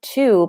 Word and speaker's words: two: I found that some people struggle with the number 2 because it has a W.